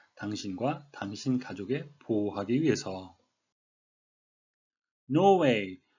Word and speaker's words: Norway: 보호하기 위해서 노 웨이 우리말로는 예 노르웨이 라고 표기를 하는데 발음은 예삿일 은 들어가지 않고 노이에 가깝게 있구요 영국 시그날 발음이 없이 노우 웨어 미국 식은 약간 네오를 하면서 허리를 구부린 노회 이런 식의 되겠습니다 노르웨이는 아닙니다 본문 설명에 앞서서 한